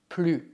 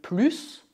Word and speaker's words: plus: Neste caso, o S de plus é mudo porque a frase é negativa. Por outro lado, devemos pronunciar o S na frase Julien a un an de plus que moi.